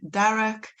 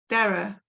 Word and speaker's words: Darroch: um today I am with the wonderful Lauren Derek Lauren am I saying that right Derek he is actually pronounced as uh Dara it's Gaelic so I do have a UK connection myself hi Dara Dara yeah if you're Scottish there's probably a bit